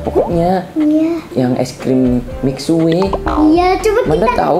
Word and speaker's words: Mixue: Guys, ini ngomong-ngomong katanya di sini bacanya itu bukan Mixway, guys, tapi Mixway. Mixway gitu ya.